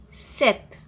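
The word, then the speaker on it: sept: sank 6 6 7 set if you observe when i'm pronouncing 7 in french set we i'm not pronouncing p p will be silent so the pronunciation of 7 in french will be set 11 owns 12 deuce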